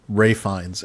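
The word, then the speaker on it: Ralph Fiennes: Ray Fines, as other people might call him. Yeah, Ralph Fines. Great finds cuz it's spelled Ralph, but it's I thought I thought he died.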